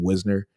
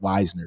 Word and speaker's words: Wisner: two ago and like I kept saying Wisner and then he typed out he goes no nino it's Wisner W i- NE R say it like that Weisner so Trey Weisner Trey